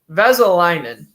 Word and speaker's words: Vesalainen: It's Christian Vesalainen. That's not bad. Wait a minute. I was overthinking it. It's Vesalainen.